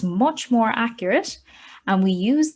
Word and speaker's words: mu: measure and then mu this is how we pronounce it mu here that's just going to be the true